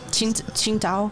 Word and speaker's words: Tsingtao: Tsingtao. Is that what they call it? Tsingtao. But it's spelled That's an American way to say it, but Chinese way is Qingdao.